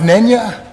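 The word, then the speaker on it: Nänie: think you'll be bored the title is pronounced Nya and it means funeral song after the Roman funeral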